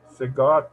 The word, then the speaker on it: siga: Siga todo recto por esta calle y lo verá a 2 cuadras. Sí, súper. Marshall, la palabra siga, el estrés, el acento está en la primera sílaba.